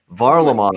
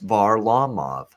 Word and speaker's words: Varlamov: first joined the nhl var lamoni that's how you'd say it but he wanted it pronounced var lawmove so now that's what everybody's got to call him now if they want